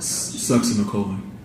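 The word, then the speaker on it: succinylcholine: And how do you pronounce it again? Sucks in the colon.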